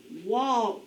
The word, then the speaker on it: walk: the halls what word walk rhymes with talk let's go ahead and